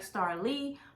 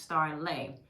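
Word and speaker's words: Starleigh: name is caldwell and my name is spelled s-t-a-r-l-e-i-g-h so it looks like star lee but it is pronounced star lay fun fact before the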